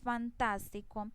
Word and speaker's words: fantástico: Entonces, por ejemplo, cuando yo digo fantástico, miremos que vea, esta es la última sílaba, esta es la penúltima sílaba y tas es la antepenúltima sílaba. Miremos que entonces lleva el acento ahí y ahí mismo tiene la tilde.